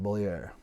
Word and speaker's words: Beaulieu: And we didn't really understand like our tie, it's always been, we've always pronounced our name correctly, right? Beaulieu.